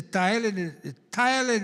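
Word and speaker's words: ptyalin: Saliva will come in, and that saliva mixes the thiolin in that saliva, P-T-Y-A. Thiolin, the P is silent in thiolin, and that creates lots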